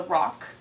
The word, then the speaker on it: Roc: And even though it's called the Roc, it's spelled R-O-C, not R-O-C-K.